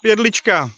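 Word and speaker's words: Jedlička: Vit, or President Vit Jedlicka. Is that correctly pronounced? Yeah, Jedlicka, if you're trying to pronounce my surname.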